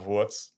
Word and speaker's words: Wurz: Austrian surname sorry but it's like Oscar VZ it's prob how you pronounce it but that because